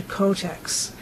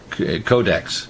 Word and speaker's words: Codex: Okay, you said Kotex, like the Kotex tampons pads. Yeah. I said Codex, and what is it? Codex. Codex. Codex, yeah.